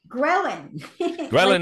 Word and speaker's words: ghrelin: gonna get you to pronounce help me with pronunciation what is Garland g-h-e-r-l-i-n did I say that right Garland ghrelin is the hunger hormone yeah and it's the